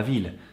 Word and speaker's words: ville: When English speakers make this mistake, it often comes out as vie, which means life.